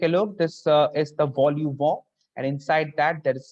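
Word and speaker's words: vol-au-vent: So now it looks like vol au vent, but it is not vol au vent. The French pronunciation is vol au vent. So please remember this thing.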